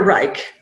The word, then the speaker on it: Reich: say your last name is it Reich or re rymes with Bike R okay so Dr Reich has got a pH